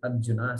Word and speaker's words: Arjuna: Arjun. And here they have to say Arjuna. And then they have to put up with people like me who says Arjuna. So all these problems are there for, north-south pronunciation differences.